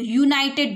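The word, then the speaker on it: United: आप इसको देखोगे कि स्पेलिंग स्टार्ट तो यू से हो रही है, लेकिन आप जब इसको प्रोनाउंस करोगे तो आप क्या बोलोगे? इसको यूनाइटेड बोलोगे। आपको क्या सुनाई दे रहा है?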